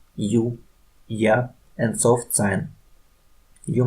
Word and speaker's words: Ы: Say E and move tongue to center of the mouth. E. And now only U. U.